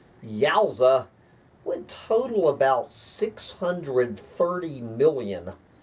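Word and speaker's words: GAUSA: Also, the population of the new Great Again USA G-A-U-S-A, pronounced Yowza, would total about 630 million.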